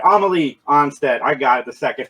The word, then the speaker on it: Amelie Anstett: three geeks conversation we are joined today by a melee onsted i pronounce that right amelie onsted i got it the second time that is